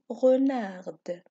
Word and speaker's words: renard: c'est possible exemple renard renarde alors dont ce mot on ne prononce pas la lettre d écouter renard alors c'est